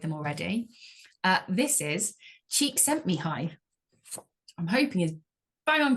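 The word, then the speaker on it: Csikszentmihalyi: prepared I was like I need to know how to say this so cheek sent me High's best known for his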